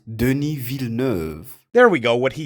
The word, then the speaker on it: Denis Villeneuve: It's pronounced Denis Villeneuve.